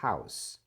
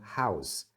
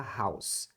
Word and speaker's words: house: need to clean the house casa a gente fala House House com som final de S tá muitos alunos falam House com z mas é um som de s House House bom vamos